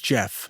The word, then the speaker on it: Gef: He then informed the family that his name is Jeff, spelled with a G, and he is a